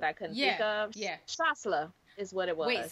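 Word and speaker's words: Chasselas: I had it except for the s yes shasla it is also um a grape that's popular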